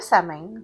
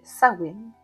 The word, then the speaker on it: Samhain: Le samen qui se prononce en réalité Sain est à la fin de l'année celtique qui correspond à la nuit du 31 octobre le dernier jour.